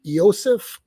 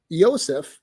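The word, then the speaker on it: Iosif: So Eosif is actually a Slavic pronunciation of Joseph.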